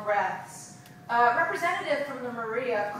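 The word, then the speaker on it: Moriah: of Orthodox Jews called Moria, spelled M-O-R-I-A-H, but pronounced as in, how do you solve a problem like?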